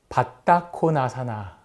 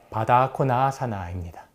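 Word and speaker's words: बद्धकोणासन: 그리고 또 하나가 바타코나사나 이렇게 바타코나 아사나 이렇게 발음하는 것들이 있는데 이 동작은 아주 대표적인 이렇게 골반을 열어주는 동작이죠. 근데 이 동작은 바다코나사나입니다. 바다의 뜻은 바인딩 혹은 바운드로 번역을 하는데 묶다라는 뜻이에요.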